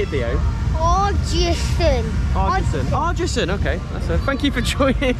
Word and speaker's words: Ardrossan: It's another place I can't pronounce properly. How do you say it, Theo? Ardrossan, okay.